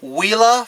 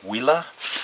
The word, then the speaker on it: Huila: I'm pronouncing that correctly I think the H is silent it's a Spanish word wila so going up against